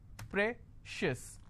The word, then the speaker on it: precious: Precious. I will stress on pre.